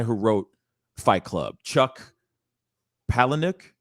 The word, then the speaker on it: Palahniuk: road trip called lullaby uh by i can't pronounce his last name properly but the guy who wrote fight club chuck palahniuk palinwick yeah that's right that's right milo neweck thank